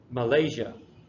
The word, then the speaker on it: Malaysia: fourth one is when the emphasis is in the middle so then it's Malaysia Morocco all right so these